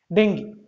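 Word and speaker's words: dengue: चलो, और र से देखो, अच्छा आप लोग इसको क्या पढ़ेंगे, डेंगू ना, ये डेंगू नहीं, इसको बोलते हैं डेंगी। क्या बोलते हैं, डेंगी, इसका सही प्रोनाउंसिएशन है डेंगी।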